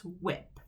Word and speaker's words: whip: qua it quilt now we have another silent this is h does not say anything so this word is not it's just whip the h doesn't really do anything but i can't get